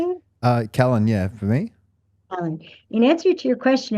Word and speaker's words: Callan: Callan.